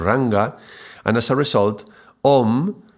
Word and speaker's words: Om: and as a result, Om is regularly produced like, more pronounced like Ong, Ong, Ong, in the context of Sanskrit. And so, when Om is followed by other letters, yeah, when you follow the Om with other letters afterwards, that M becomes a very nasal ng sound, which translates as almost like a G, Ong.